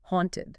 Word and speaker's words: haunted: Haunted, not haunted. You want a nice open ah sound.